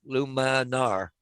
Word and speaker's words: Luminar: going on doing some aerials but how'd you spell it paul luminar l-u-m i n-a-r luma nar okay but the newest one is called coming